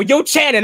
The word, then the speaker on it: Yochanan: i'm not no no yo chan and i'm not going to pronounce it the right way yochanan there you go your